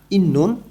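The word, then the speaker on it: 있는: প্রতিবন্ধকতা, ঝাংবিয়োগী ভাষা প্রতিবন্ধকতা, ইন্নুন থাকা, তধ্বনির বাচ্চিমের পরে যখন নিউন আসে তখন এই তধ্বনির বাচ্চিম নয়ের মতন উচ্চারণ হয়।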